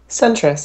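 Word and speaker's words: Sentris: working on on how do you say centrus centrus yeah s n t r i s so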